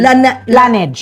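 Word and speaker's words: Laneige: How do you pronounce it? Sorry ha. Lip sleepy. Lanage.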